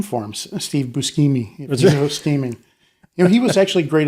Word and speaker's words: Buscemi: Is that how you pronounce it? Steve Buscemi? Yeah, it's Buscemi.